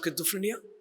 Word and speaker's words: schizophrenia: Who took the class of schizophrenia? Santosh sir. Okay, okay. I should not be so much of perfectionist, but Z is pronounced like TS. We call it pizza.